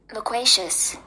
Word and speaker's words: loquacious: And this is how it is pronounced. Loquacious.